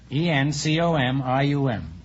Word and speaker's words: encomium: for some curious reason I said he called me him instead of encomium and I got a